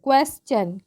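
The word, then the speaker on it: question: उच्चारण कब होगा देखिए क्वेश्चन क्य यू ई एस टी आई ओ एन टी आई ओ एन क कभी भी एक साथ रहेगा तो हम इसका उच्चारण च के रूप में करते हैं और श के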